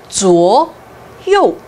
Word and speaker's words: 左右: 중국어에서도 좌우를 한자를 그대로 쓰고 발음도 좌우, 左右 굉장히 비슷해요.